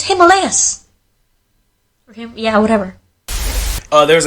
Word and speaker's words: Himalayas: like, that's not the way you pronounce it, it's Himalayas.